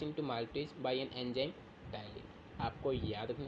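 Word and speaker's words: ptyalin: और इस कन्वर्जन में जो आपका एंजाइम वर्क करता है वो आपका है यहाँ पे टाइलिन। कुछ बच्चे इसको पटाइलिन बोलते हैं तो वो गलत प्रोनाउंसिएशन होता है।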